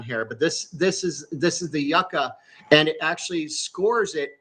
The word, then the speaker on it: Yuka: It's called Yucca, and it's spelled Yuka.